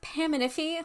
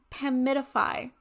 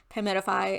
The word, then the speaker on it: Paminify: gonna go and assume that that's how you pronounce the name of this brand. So it is not Paminify like I thought it was. It is Paminify.